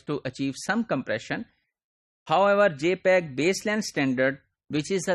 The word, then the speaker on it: JPEG: so for that what we use we use jpeg JP EEG this is pronounced as JPEG and this is standard developed